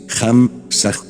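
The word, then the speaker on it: Ham Sa: Muchas veces les he explicado a ustedes cómo se trabaja con el mantra Ham, Sa, que se pronuncia así, Ham, Sa, este mantra es el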